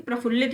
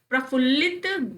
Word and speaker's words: प्रफुल्ल: एकदम दिमाग में रखिएगा प्रफुल्लित नहीं क्योंकि मोस्टली लोग कहते हैं अरे बहुत प्रफुल्लित ग रहे हो अरे मैं तो आज बहुत प्रफुल्लित हूं मां एकदम गदगद है प्रफुल्लित गलत उच्चारण है गलत वर्तनी है मैं बहुत प्रफुल्ल हूं जैसे लोग स्वादिष्ट बोलते